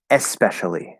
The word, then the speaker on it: especially: fine um especially the especially not specially we might pronounce it especially without the part but in writing it's the word especially with an e in front of it specially is a different